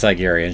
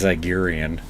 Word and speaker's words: Zygerian: Wrecker says Zygerian, she says Zygerian.